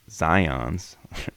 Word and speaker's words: Zajonc: Dr. whatever pronounced Zions, so I guess he's pronounced Zions, in explaining the findings